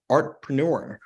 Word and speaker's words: Artpreneur: of a book called artpreneur did I pronounce that right yeah did I get there okay good good job yeah not everybody does sometimes they're doing like they're throwing in an extra tea Archer I like no